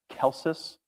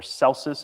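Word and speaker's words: Celsus: And uh the the the person who made that serious claim against it was a man named Kelsus or Celus if you pronounce the C as a S.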